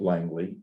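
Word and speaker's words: Langlais: Now, this is Langley, they pronounce it Langley, Langley, who was another person.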